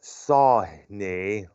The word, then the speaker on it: Sawhney: now also featuring uh nitin sawhney i think that's how it's pronounced it's spelled s-a-w-h-n-e-y on the keyboards and vocals from